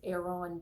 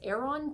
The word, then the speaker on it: Aeron: little promotional plug here his name is Aon Tindle that's how they pronounce